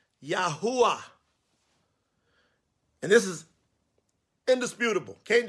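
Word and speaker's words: Yahuah: But when I'm referring to him, I want to refer to the Father by his actual name, Yahuwah. Yahuwah.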